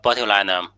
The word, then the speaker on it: botulinum: for the pathogenesis of bilinum. So most cases of bilism keep in mind the pronunciation of this word. This is when we say the name of the bacteria we say bilinum but the disease it